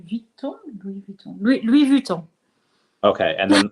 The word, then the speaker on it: Louis Vuitton: pronunciations, because before you, I was pronouncing Louboutin as like Louboutin, and So it's Louis Vuitton.